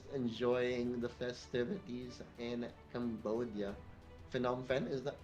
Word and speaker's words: Phnom Penh: Phnom Penh, is that how do you pronounce it?